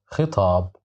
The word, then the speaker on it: خطاب: خطاب, خطاب, خطاب, which means a letter. So this kha is controlled by kasra. That's why we pronounce it as khi.